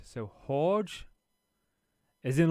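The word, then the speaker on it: Jorge: It's pronounced like a h. So, horge as in like when you're saying Jose and that.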